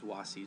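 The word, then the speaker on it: vasi: And I think I said I may have mispronounced the ablative singular for was, which is wasi, just like mare. It's so it's wasis, and then wasi, not wase, wasi.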